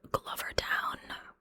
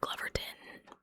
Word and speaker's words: Glovertown: She had a job interview lined up at a place called Glovertown, or Gloverton. Again, depending on who you talk to is how you say it.